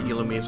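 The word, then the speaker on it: Illumise: the um IL and yes that is how you pronounce it it is il um I don't know why it just is so an ember and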